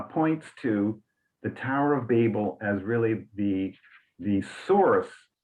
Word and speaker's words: Babel: was babylon but we we tend to go babel so the a is open uh and remember english